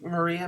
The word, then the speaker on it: Maria: me fiber challenge then remember rhymes with malia rhymes with maria molina who did the